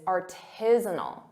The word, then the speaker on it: artisanal: Sometimes native speakers and students confuse the syllable stress and they say artisanal and they put the syllable stress on zone, which isn't correct. The correct pronunciation is artisanal. Artisanal. That's the syllable stress.